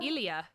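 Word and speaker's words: Ilya: Um, it is Shane and I cannot pronounce the Russians guy named Ilia. Ilia.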